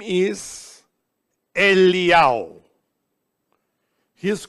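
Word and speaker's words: אליהו: we find Moses and Eliyahu, or Elijah. And Elijah, or Eliyahu, this is how his name is pronounced according to Judaism.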